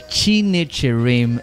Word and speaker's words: Chinecherem: Chinecherem. Yes, it's just how it sounds. That's how it's spelled.